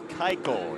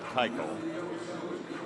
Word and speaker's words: Keuchel: Ground ball theater from Dallas Keuchel is how you say it, Keuchel.